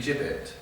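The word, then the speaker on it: gibbet: it's that but um a flipp jibit is actually the correct pronunciation and um it was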